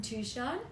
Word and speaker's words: Touchon: Touchon. I'm always He's bad with names. No G. Pronouncing. Touchon. It's like Tucson. Yeah. But not. Not as cool.